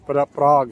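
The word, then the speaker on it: Prague: कोई नहीं होता है मैं दोबारा रिपीट कर रहा हूं कि स्पेलिंग तो इसके पी ए आर जी यू ई है बट कहते इसको शायद पराग है।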